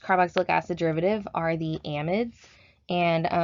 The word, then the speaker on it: amide: flavoring our next carboxylic acid derivative are the amides and it's important to note that when you